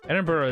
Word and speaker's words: Edinburgh: Edinburgh is lovely. I'm sure I said that wrong. I'm sure people are mad. I just know you don't over-pronunciate it.